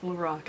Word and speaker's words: Lorac: with Lorac or Lorac, it's pronounced Lorac, I guess, because everybody says that. The owner, her name is Carol, and it's just Carol backwards, so I don't know why it's not Lorac for Carol.